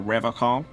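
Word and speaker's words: Revachol: But someone has to stay strong for Revocol. He pronounces Revocol with a hard K, unlike other people.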